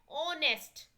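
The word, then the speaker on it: honest: Underline the silent letter in the following word. ऑनेस्ट, एच हो जाएगा.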